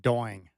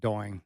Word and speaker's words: Doing: and apparently there were a couple of people who butchered my name. Doying. I've gotten that a few times in my life. I just love to think about Chy saying Doing.